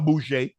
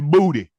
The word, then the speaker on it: Boutte: It's not no Boucher. It's Booty.